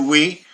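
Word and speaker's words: oui: e w right do we what the French word for yes the French word for yes is we if I take away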